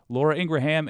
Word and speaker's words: Laura Ingraham: by the way I used to say that name wrong Midas Touch corrected me thank you Laura Ingraham and Rupert Murdoch said about you do you